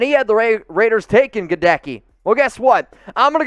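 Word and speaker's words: Goedeke: godeki yeah so guys i create weird things in my head how to how to pronounce names and i think of this one you remember the old yankees baseball player hideki matsui well should we go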